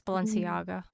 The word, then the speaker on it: Balenciaga: It's Balenciaga and Palm. I have to hear the actual song and how she pronounces them to get it.